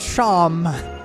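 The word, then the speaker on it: Seam: about yourself the names seem okay like Shawn pronounced Shawn and this is my little shop do you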